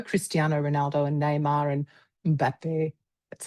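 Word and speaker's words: Mbappé: because I know Cristiano Ronaldo and Neymar and Mbappe.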